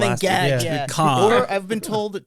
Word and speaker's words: Cannes: Wait, Con? Mm-hmm. Is it Cannes? Cannes. Cannes? Yeah. Con. That's how it's pronounced?